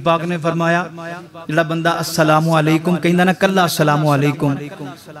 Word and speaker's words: السلام علیکم: بد دعا بن جاندی السلام علیکم اس طرح تلفظ دے نال السلام علیکم کہنا ہے سلام علیکم سلام علیکم اس طرح نہیں کہنا جڑا بندہ سلام علیکم